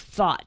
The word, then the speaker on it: THOT: pornographic version of TikTok called TikTok Thought, THOT. So parents, if your kids are on Thought, THOT, I'm not misspelling it, that's how it's spelled, THOT, you need to get them off.